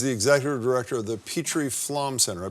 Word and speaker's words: Petrie Flom: She's the executive director of the Petrie Flom Center. I pronounce it properly?